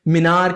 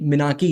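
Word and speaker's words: menarche: तो वो क्वेश्चन है, right a short note on मिनाकी and menstrual dysfunction, बहुत सारे लोग इसका प्रोनाउंसिएशन मिनार या फिर मिनार्ची करते हैं, नहीं मिनाकी है इसका सही प्रोनाउंसिएशन। तो देखिए भाई, अगर हम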